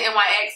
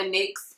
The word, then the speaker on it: NYX: It's the NYX or the NYX, people pronounce it differently, in the color deep purple.